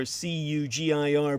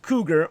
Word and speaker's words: Cugir: by the long established cougar or cugir pronounced cougar arms Factory as a